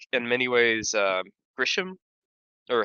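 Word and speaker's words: Ghirahim: like in many ways, Grisham, or how do you pronounce his name? Correct. Girahim. Yeah. Or yeah, Yeah. I say Girahim. Yeah. Yep. Girahim? Yeah. Yeah, Yeah, there's no S.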